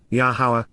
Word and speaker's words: Yahowah: yod, influence and control, Yahowah, Yahowah, the proper pronunciation of Yahowah, our Eloah, God as